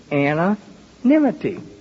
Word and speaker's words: anonymity: now listen I says just think of a girl named Anna and her last name is nime now you just say her name anonimity and she shook her